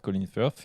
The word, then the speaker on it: Colin Firth: Refais le Colin Firth. Colin Firth. Puis le TH, c'est la langue entre les dents, les gars. C'est tout. C'est comme ça qu'on prononce.